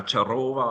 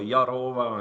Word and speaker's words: Yarowa: a Y, they were, is it now Charova or Yarowa? And it made it more difficult. And that's why we changed it now with a Y, Yarowa, so that it's clear for everyone how to pronounce it.